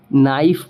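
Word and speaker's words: knife: के साइलेंट हो जाएगा उसी तरीके से के एन आई एफ वी ठीक है तो इसको हम क्या पढ़ेंगे नाइफ पढ़ेंगे क्यों क्योंकि के बाद एन है और इन एन के बाद क्या है वोवेल है उसी तरीके से अगर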